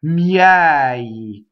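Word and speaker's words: miei: Miɛi. Okay, so now you have an open E surrounded by semi-vowels, right?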